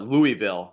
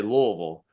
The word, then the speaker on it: Louisville: Everyone in New Jersey would call it Louisville, but we'll say Louisville, right? That's the proper way to pronounce it, if you're from that area.